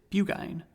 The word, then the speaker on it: Burgoyne: He pronounced it Bugine, which my informant used to borrow.